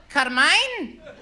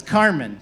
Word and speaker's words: Carmen: on a daily basis I get people going and then they try to correct me like I'm the one mispronouncing my own name Carmine Carmelo no it's Carmen Carman EST the gay